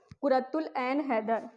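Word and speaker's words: قرۃ العین حیدر: अब अलिफ यहाँ पर साइलेंट है, कु र तुल, अ को ए की मात्रा, एन को ए न, उसके बाद हैदर, ठीक है, कुरतुल ऐन हैदर।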